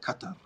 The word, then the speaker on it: Qatar: like we hate the locals the local safe cutter cut over okay I used to say cuz